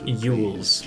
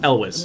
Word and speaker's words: Elwes: Often mispronounced Yules, but it's Elwes.